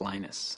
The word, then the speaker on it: Linus: speak Finnish it's lenus when I speak English it's lonus and I really don't care how people pronounce my name but Linux is always